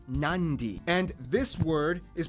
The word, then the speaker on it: Nadi: Therefore, the town of Nadi is actually pronounced Nandi.